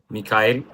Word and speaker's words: Mikhail: That's actually the pronunciation, Alinda. It's Mikhail, Gabriel Mikhail.